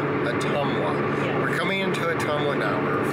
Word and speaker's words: Ottumwa: We are heading to Ottumwa now.